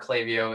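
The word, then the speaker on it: Klaviyo: to use email marketing oh like by far clavio is the number one uh number one thing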